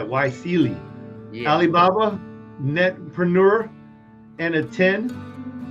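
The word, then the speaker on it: YSEALI: see you know there's like yeah all right why Celie Alibaba netpreneur and a 10 10 by 1000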